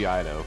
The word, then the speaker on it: Ito: It's pronounced Ito.